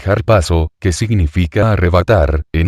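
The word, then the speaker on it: ἁρπάζω: latina para traducir el verbo griego arpazo pronúnciese harpazo, que significa arrebatar, en 1 Tesalonicenses 4:17.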